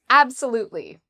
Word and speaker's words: absolutely: Uh, so the stress is on the third syllable. We would say absolutely. So, there's four syllables in in total.